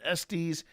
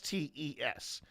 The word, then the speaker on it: Estes: you're curious and if curious, you'll hear people pronounce it esties. Estus Estus. It is actually S E S estes and it's named after, if I remember, it was first done in Estes Park.